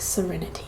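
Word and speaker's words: Sarenity: Let's see, Serenity, like it's Sarah, but like Serenity, like spelled with S-A-R-A and then inity.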